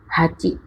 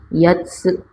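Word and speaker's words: 八: Kanji nomor 7 bisa dibaca nana atau shichi, juga memiliki cara baca lain yaitu nanatsu, artinya 7 buah. Kanji nomor 8 hachi, juga bisa dibaca yatsu, yang artinya 8 buah.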